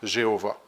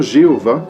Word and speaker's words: Jéhovah: La prononciation Jéhovah fut le résultat de l'amalgamation des voyelles du nom Adonai avec les consonnes de Yahvé.